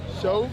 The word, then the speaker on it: Sho: Show? Yeah, show. Spell it for me. S-H-O. Show, like I Showtime?